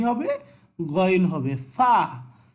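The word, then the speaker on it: ف: ফা, ফা উপরের দুই দাঁত নিচের ঠোঁটের সাথে লাগিয়ে ফা উচ্চারিত হবে, ওকে।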